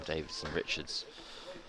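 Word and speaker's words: Davidson-Richards: I'm finding that word, that name annoyingly difficult to say for how simple it is. Davidson Richards. Exactly. That's why I'm getting it wrong. I'm adding an extra syllable.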